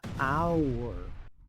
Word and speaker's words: hour: Pero aquí la H es muda. Hour.